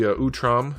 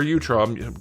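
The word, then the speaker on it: Utrom: And then lastly, you get the Utam or Utram. Question of the day, how do you pronounce that? Utam or Utram. I've always said Utram.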